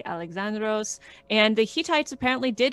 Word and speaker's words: Alexandros: alexandra what is it about it even cooler alexandros awesome all right and is helen just helen